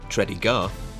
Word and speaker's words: Tredegar: Richmond Virginia USA orbe it pronounced tredy gar could have been no